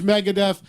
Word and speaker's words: Megadeth: But James, how did they pronounce Megadeth? They didn't say Megadeth.